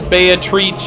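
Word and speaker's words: Beatrice: be pronounced as in the way it's pronounced in the Italian dialect Dante spoke in his bayit reach a lady of the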